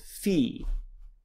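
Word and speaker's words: φι: Epsilon the next one looks like a frying pan if you see the little frying pan right has an F sound it's called fee then comes the next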